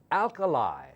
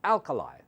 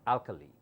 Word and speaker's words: alkali: l k a l i like acid and Alkali this is how it's pronounced Alkali it's not alkaly okay so you have to go over this